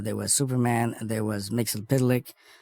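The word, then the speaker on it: Mxyzptlk: was Superman there was Mixel pck and that's the way you say it Mixel pck more forget I did super boy so I certainly learned how to say it Mixel pic and even Supergirl okay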